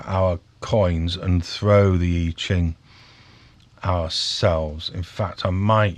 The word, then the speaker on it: I Ching: And the I Ching, correct pronunciation, my apology, I Ching, Book of Changes, 1000 BCE, before Common Era.